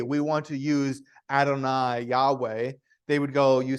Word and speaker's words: Yahweh: so so the way it the name is pronounced we would say is Yahweh that's the that's the proper name but if